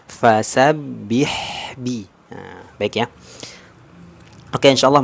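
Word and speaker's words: فَسَبِّحْ بِ: Nah, jadi yang kurang tepat tadi di bacaan yang kedua ya, membacanya masih vokal e, fasabbih b. Nah, jadi harusnya sempurna. Fasabbih bi.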